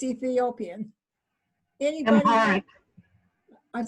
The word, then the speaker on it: Amharic: also discussing translating into, Beth, how do you pronounce the language? It's Ethiopian. Anybody? Amharic. I'd say that again. Amharic, the major language of Ethiopia.